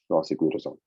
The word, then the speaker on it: rosiglitazone: Pioglitazone and rosiglitazone. Yes, which rhymes with calzone.